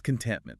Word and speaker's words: contentment: It's contentment. Three syllables. But sometimes that middle T gets a little lost in native speech.